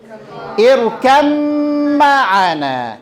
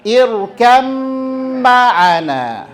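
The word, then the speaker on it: ارْكَبْ مَعَنَا: Ini dibacanya bagaimana? Irkam ma'ana. Irkam ma'ana.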